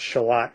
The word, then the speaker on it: Charlotte: the one of the murders takes place in shalot spelled like Charlotte North Carolina but it's pronounced shalot for reasons I'm not clear on but it's